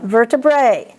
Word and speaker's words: vertebrae: Now, here's the exception. I said AE, you pronounce it as an E, like Bercy and things like that. This word is, of course, an exception. There are always exceptions. It's vertebrae. Vesicoureteral reflux.